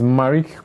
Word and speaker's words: Marricke: How is it pronounced? Marricke, as in like the makeup no, people? No, it's actually Marricke. So just Marricke?